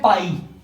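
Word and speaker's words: π: बच्चों पाई आर बच्चों ये जो शब्द बना रखा है मैंने ये ना इसे हम प्रोनाउंस करते हैं पाई ठीक है अभी जर्नी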